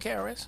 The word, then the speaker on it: KRS: You even formed your own label, Old Dad Truth Records, where you released Everybody But KRS or Chris. Yeah, Am I saying it right? Yeah, Everybody But KRS.